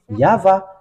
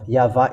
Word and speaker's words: Yahvah: we have found is yava and U okay so it's this above one is the truth so this picture emphasize this one above yava is the true one yav is false then because it's not